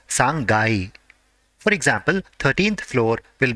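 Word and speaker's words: 三階: is ending with 3 the part corresponding to 3 has to be pronounced as sangai for example 13th floor will be ju sangai next for sixth floor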